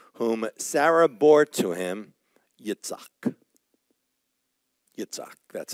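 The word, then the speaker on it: יצחק: and Abraham called the name of his son who was born to him whom Sarah bore to him Yitzhak that's how it's pronounced Isaac and Isaac means remember laughter laughter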